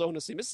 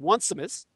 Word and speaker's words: Onesimus: And it was spelled Onesimus, as I believe it was pronounced Onesimus. And Onesimus was had a name. You can look him up. His name was spelled O-N-E, like one, S-I-M-U-S, Onesimus, or Onesimus.